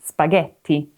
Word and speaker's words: spaghetti: So most of the time it's a hard G, like in spaghetti.